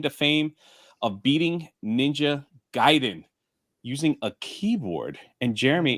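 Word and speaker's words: Gaiden: fame of beating ninja giden using a keyboard and Jeremy it's pronounced Guiden didn't you see the way they pronounced it in the Wizard also emailed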